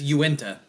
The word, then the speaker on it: Uinta: Yeah, Uinta.